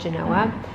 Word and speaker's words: Genoa: I think it's technically spelled Genova, but I don't think they pronounce the V in the Italian culture, so it's called Genoa.